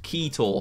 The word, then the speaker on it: Quito: We have Quito, or I'm told it's actually pronounced Quito.